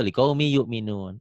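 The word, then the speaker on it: لِقَوْمٍ يُؤْمِنُونَ: Ya, ya, Setiap ada tanda dua, ketemu tanda ini, tanda duanya baca satu. Iya. Jadi masuk liqaumi, gampang itu mah tuh, liqaumi yu'minun. Itu nanti kamu jadi kalau menemukan seperti itu cara bacanya gitu. Ya, tapi nanti kamu sebaiknya tetap hafal ya. Kenapa liqaumin jadi qaumi? Karena tanwin ketemu ya.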